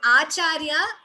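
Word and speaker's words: आचार्य: And Acharya, the word is pronounced as we are pronouncing it. There is no extra ch there. Madacharya Purogamaihi Purvairacharyehi. Acharya, all of you know the word Acharya. It is just pronounced in that way. Extra cha is not there.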